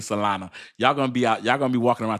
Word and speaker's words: Solana: But why say Solana? Because it's the perfect way. The correct pronunciation is Solana. I mess it up and I chop it up. I call it Solano, but it's not Solano.